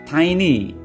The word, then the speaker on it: tiny: Tiny itu apa, Bapak Ibu? Not teeny tapi tiny.